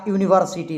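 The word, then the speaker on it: university: ए का प्रयोग करेंगे, क्योंकि इसका जो उच्चारण होता है य से होता है, यू से होगा, तो वाई ऐसे लिखते हैं।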